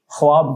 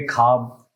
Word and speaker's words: ख्वाब: मतलब पढ़ ले, पूछ ले दूसरे आदमी से, हाँ, किसी और से पूछ लो या कोई मतलब, क्योंकि ख्वाब को बोलेंगे खाब, ख्वाब, ख्यालों में, और उनको पता भी नहीं कि वो गलत बोल रहे हैं या सही बोल रहे हैं।